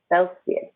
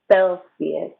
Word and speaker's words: Celsius: to say degrees celsius now the letter c can say hey or f and here it says f short e f o o this c also says f this i is a long e sound selfie this is sophia celsius see listen to me